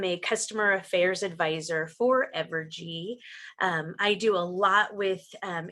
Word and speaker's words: Evergy: Is it Evergy? It's Evergy. Yes, you got Okay. it. I'm getting it now.